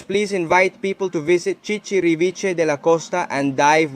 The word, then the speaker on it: Chichiriviche: Ah, look, Chichiriviche.